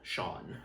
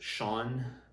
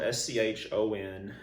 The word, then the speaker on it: Schon: brand of cue named Schon Cues. Now, first, it's technically not pronounced Sean, but that's how we pronounced it all over the country in the late 80s,